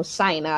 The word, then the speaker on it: Shynna: I'mma pronounce my name it is pronounced China it's China but with an S so Shina I know a lot